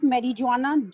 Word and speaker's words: marijuana: Marijuana, this is not marijuana, J is silent.